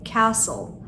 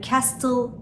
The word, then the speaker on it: castle: Kale kelimesi. Hangi harf sessiz sizce? T harfi. Castle. Yani castle değil. Castle. Bıçak kelimesi knife.